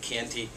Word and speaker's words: Chianti: today's not a good day for me in pronunciation we're going to talk Italy and we're going to talk Chianti not chanti Classico but Canty rufina uh there are seven zones in Italy